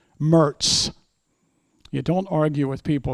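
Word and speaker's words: Moritz: John Nicholas Mertz, spelled M O R I T Z like Meritz, but locally pronounced Mertz.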